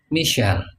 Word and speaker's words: Michael: Mungkin ada orang namanya Michael. Begitu di Inggris dibacanya Michel.